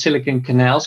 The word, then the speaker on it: Silicon Canals: And also you pronounce Silicon Canals correctly, which is usually screwed up by Dutch people.